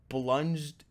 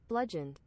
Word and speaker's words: bludgeoned: He had a high kill count of several contained subjects before he was blunged. Wait, how do you say that? Bludgeoned.